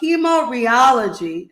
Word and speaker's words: hemorrheology: I am so excited to learn more about hemorrheology. Did I pronounce that word right?